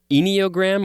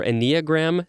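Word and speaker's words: enneagram: the eight others on this i think it's pronounced eniogram or a neogram scale one through nine they went through all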